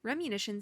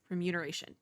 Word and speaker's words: remuneration: sign of a pausha I must say that remunition seems wait remuneration remuneration that is how you say that word okay solid understandable yeah